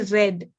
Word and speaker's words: read: read yeah should be read we spell it the same way but the way we pronounce it is what's different so we will still